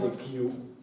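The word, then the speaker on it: queue: Англійською пишеться страшне слово, яке читається Q.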